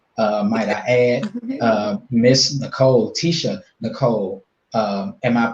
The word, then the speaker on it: Tiesha: But Tiesha is yeah, going to be Tiesha, the yes, truth. that's how you There we pronounce go.